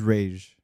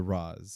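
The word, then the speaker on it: Ra's al Ghul: pronunciation they go with well the correct is Rage it was it was Batman Begins that changed it to Roz I've heard Raz in other places before Batman Begins really yeah I heard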